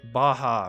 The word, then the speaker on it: Baja: ba baa like wait Baja right like Baja California like pronouncing it as